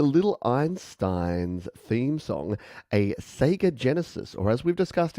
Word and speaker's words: Sega: not the genesis but we say sega not sega despite the fact that it is sega and that's the actual japanese pronunciation but we're a bit